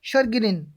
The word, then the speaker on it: chagrin: तो कुछ शब्दों में CH का उच्चारण श भी होता है, जैसे कि, यानी कि श कैसे होता है, CHAGRIN, यानी कि क्या बोलेंगे, शर्गिरिन, क्या बोलेंगे, शर्गिरिन बोलेंगे, यानी शर्गिरिन मीन्स क्या होता है, चिड़।